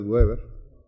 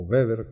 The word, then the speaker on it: Weber: Ahí no perdamos de vista que se mencionan, el popular europeo más mencionado es Manfred Weber, o Weber, como se pronuncia.